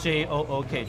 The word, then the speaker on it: jook: Yeah, J-O-O-K, jook.